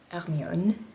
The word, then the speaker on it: Hermione: potter specifically in french is that hermione is pronounced hermione ernione and that makes me so happy because when